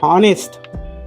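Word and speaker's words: honest: कॉम कॉम बीच्या उच्चार silent HT ऑनेस्ट ऑनेस्ट ऑनेस्ट मी ऑनेस्ट वाचतोय उच्चार नेस्ट करत नाही म्हणजे हा सायलेंट लेटर आहे अवर अस वाचतोय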